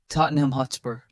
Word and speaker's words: Tottenham Hotspur: Tottenham Hotspur. Focus on reducing the ham to NUM and softening spur.